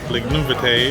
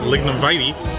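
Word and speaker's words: Lignum Vitae: One thing is that the park I've been pronouncing Lignumbate is actually pronounced Lignumvite.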